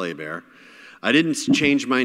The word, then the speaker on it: Hebert: Stephen Colbert, spelled like Colbert, but people say Colbert, the Colbert Report. Like, oh yeah, cool, all right. So yeah, Kyle Hebert.